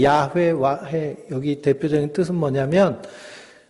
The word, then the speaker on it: 야훼: 마틴 루터가 번역했는데 독일 사람들은 야훼 발음이 안 돼요.